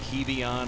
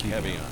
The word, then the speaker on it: Kevion: All right, and it's pronounced Kevion and not Kevion.